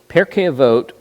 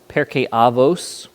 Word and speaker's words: Pirkei Avot: So Pirkei Avot is one of the most common. Pirkei Avos, you may hear. That's just Ashkenaz, means the same thing. It's just different pronunciation.